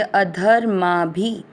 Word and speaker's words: अधर्मा: पहला चरण ध पूरा है, ध में अ मिक्स करना, अध माँ के ऊपर आधा र ध के साथ करेंगे, अधर्मा भी भ में अ